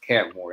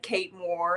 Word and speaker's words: Kat Moore: another like I mean your name is easy pronounced cat more that's cat Mo yeah sometimes I feel like a brat though because people say things like Kate Moore and I have to